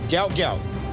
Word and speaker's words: Gout Gout: So everybody gout gout, that's how you say his name.